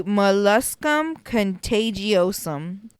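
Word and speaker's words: molluscum contagiosum: all right contos okay this one is going to be moluscum contagiosum I searched that up on Google that is the correct way to say it look it up those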